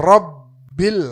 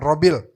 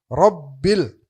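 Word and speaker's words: رَبِّ: Ba itu ada tasyidnya rabbil alamin. Minimal ada ada dua di situ. Dua dua didobelin begitu bnya. Jangan satu doang. Jangan robil. Tapi rbil karena ada tasydidnya.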